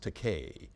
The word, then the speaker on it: Takei: I I thought well my name is pronounced teay although it frequently gets mispronounced teay rhymes with gay so if it's handy